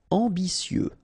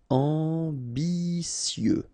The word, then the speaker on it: ambitieux: Ambitieux, final X not pronounced, and then remember that you get this T, E, and then vowel, so si. Ambitieux, ambitieux.